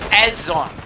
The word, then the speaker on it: Isonzo: It's Azon. That's the name of the game. Oh, that's how you pronounce it.